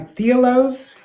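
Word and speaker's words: Thealoz: products and it's actually called uh theos is it's spelled t h e a l o z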